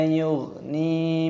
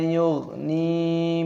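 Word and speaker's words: يُغْنِي: Wala yughni, yughni ghainnya berharokat sukun, ini dibaca mati ghainnya. Dan nunnya di sini baca panjang, ada ya sukunnya, panjangkan dua ketukan matobi'i. Wala yughni minal lahab, minal lahab.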